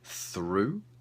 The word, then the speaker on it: through: though or although or do we have the sound U for through and we have the